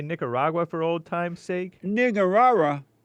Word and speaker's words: Nicaragua: different count I'm like have you ever been a Niger Raga they're like what like Nicaragua am I saying it wrong slightly off in what way it's called Nicaragua what do I say